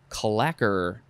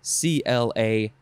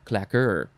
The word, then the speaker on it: claqueur: Next is clacker. This is spelled the French way, C-L-A-Q-U-E-U-R, clacker. Actually, it would be pronounced claqueur. That makes much more sense, claqueur. Although the French probably would say claqueur.